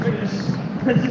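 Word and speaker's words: Biggar: Don't say that one wrong. Clan Biggest Society of North America, pronounced Biggest, Society of North America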